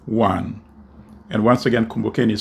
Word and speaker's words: Kumbukeni: slash and then the APT sign and then kumbokeni one and once again kumbaken is spelled k-u-m -b-u-k-e-n-i and then the number one